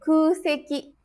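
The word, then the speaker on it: 空席: Yang pertama ada kuseki jokyo. Kuseki. Kuseki ini dibacanya ku karena bertemu dengan kanji seki.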